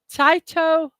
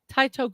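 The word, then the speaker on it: Tite: Now, his first name, I'm not sure if I'm pronouncing it correctly, but I looked it up, and this is the best way I could find. Uh, like, um, Taito Kubo. Taito Kubo.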